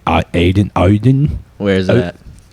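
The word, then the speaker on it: Audien: to say this a u d i e Aiden aen where's that Oden oh yeah better known as aian better known as audian yeah I now I know who you're talking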